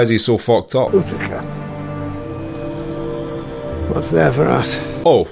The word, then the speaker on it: Utica: Utica. What's there for us? Oh, so Utica is a place, and I pronounced it way wrong. Utica then?